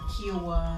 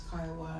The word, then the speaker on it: Kiowa: getting everything wrong and pronouncing his tribe Kiowa, and he says, no ma'am, it's Kiowa, and then she's assuming that she knows what Indian is.